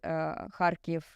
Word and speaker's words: Kharkiv: okay, now I really know what the correct pronunciation is. And so it is Zaporizhzhia, it is Kharkiv, it is Donetsk, it is not Donetsk, as a lot of So not Kiev.